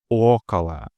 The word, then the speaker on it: около: In около, the first O is stressed and thus fully pronounced около. The other instances of O being located after a stressed vowel undergo second-degree reduction, functioning as an indistinct and very short filler vowel sound known as a schwa, около.